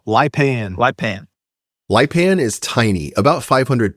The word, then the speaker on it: Lipan: That's pronounced Lipan, right? Yes, kind of a Lipan.